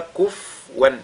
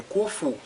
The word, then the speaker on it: kufuwan: Walam yakul lahu kufuwan ahad. Et kufuwan, ici la lettre fa porte ad-damma kufu. Ce n'est pas kufwan, mais kufu.